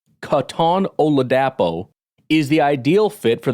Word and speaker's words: Katon Oladapo: Beast guy cuz I'm like how do you pronounce it it's Katon oladapo Katon oladapo is the ideal fit for the Green Bay's